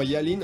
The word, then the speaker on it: Yalin: Alors pour ceux qui connaissent pas forcément Yalin, on dit Yalin, hein, ça s'écrit Y-A-2-L-I-2-N.